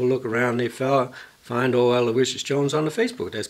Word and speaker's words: Alawishus: Well, if the folks keep an eye out for Aloysius Jones, now it sounds the same, you say it like the saint, but it ain't spelt